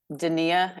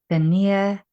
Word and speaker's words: Donnia: this name say your name again for us daia daia first the first time I ever said